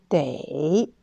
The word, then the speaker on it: 得: Troisième prononciation de ce de est dei. Dei, aussi, c'est un verbe qui veut dire devoir, avoir besoin de faire quelque chose.